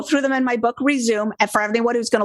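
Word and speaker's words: Rezoom: them in my book resume and for everyone who's gonna look up that book it's spelled r-e-z-o-o-m like zoom do it fast resume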